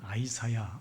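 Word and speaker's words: Isaiah: 어색해요 뭐 예를 들면 우리가 가 잘하는 이사야를 아이사야 한다든지 오늘 우리가 읽은이 에스겔 같은 경우에도 원래이 히브리어 발음은 예측케 뭐 이렇게 발음 하거든요 예측케 그럼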